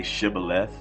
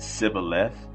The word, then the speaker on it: Shibboleth: When he said, "No," they said to him, "Then say Shibboleth." And he said Sibboleth, for he could not pronounce it right.